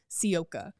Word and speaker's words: Sivka: But, uh, the sky pronunciation guide is Sioka. Um, so Aisha Sioka.